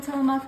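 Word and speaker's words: Tillamook: cheese I'm using the tillamuk Mexican four cheese I said it right this time you guys got to give me credits in the comments for saying till them up correctly okay and we're just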